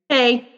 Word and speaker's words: Hay: Hey. It's just hey, hey? Yeah, that's me.